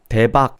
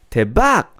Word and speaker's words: 대박: Like, if you just speak in wrong pitch, it already sounds off. Have you guys noticed? Or instead of, like, even the phrases, think about it. 귀엽다, 멋있다, 대박 is fine, right? 대박, 대박. It sounds off. 귀엽다, 귀엽다. Like, you know, like, don't add the pitch.